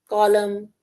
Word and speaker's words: column: Column the N is silent.